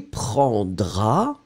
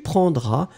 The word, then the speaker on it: prendras: will get je prendrai, I will take, tu prendras, il prendra, elle prendra. Remember that in fact you will pronounce the tu form prendra with this final